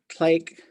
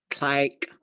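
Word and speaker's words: tléik': So Klake is no, and there's a variant for here. You'll hear some speakers say it like this. They'll say Klike, Klike. I have a hard time saying it. Klake, Klike. They're very similar, right?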